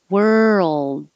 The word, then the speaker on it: world: not mistaken for word world then don't release the d hold the tongue behind your top teeth you will hear the d if there's a word after it that begins with a vowel so world of something